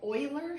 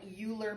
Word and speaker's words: Euler: this first section we're looking at is called euler circuits and hamiltonian cycles and i know that looks like euler but it's euler that's the way you say